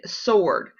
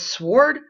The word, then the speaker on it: sword: You should have come up with wrestle, answer, and sword. Some people, I've heard them pronounce that as sword. Oh my goodness. That is a silent W.